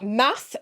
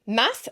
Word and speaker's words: Math: Math, the king, I think I pronounced that right. It looks like math, which sounds like how Americans say mathematics. Math. I think it's math.